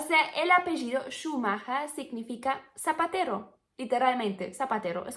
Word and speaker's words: Schumacher: Por ejemplo, creo que a lo mejor muchos de ustedes conocen el apellido Schumacher, que bueno, así se pronuncia bien, Schumacher.